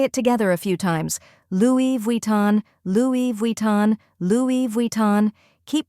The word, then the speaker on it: Louis Vuitton: difference let's say it together a few times Louis Von Louis Von Louis Von keep practicing until it